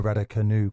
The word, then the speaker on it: Raducanu: Watching Emma Raducanu coming back into her best again. I've never heard it pronounced like that, with the emphasis on the canoe.